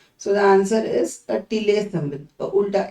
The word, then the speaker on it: tilde: So the answer is a tilde symbol, a ulta S, you can remember it as. Okay, so it is TILDE. Here D is silent.